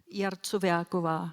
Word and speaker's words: Jarcovjáková: one more time for the woman who's Jarcovjáková Jarcovjáková Libuše Jarcovjáková So what happened to her after after these events?